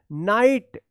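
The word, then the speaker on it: knight: यहां पे देखिए नाइट क्या है? के एन आई जी एच टी यहां पे के साइलेंट है।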